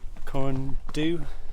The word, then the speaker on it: Cwm Llwch: So heading to Cwm Llwch, that's how you pronounce it, and then yeah, going to start the walk down along the Cwm Llwch ridge.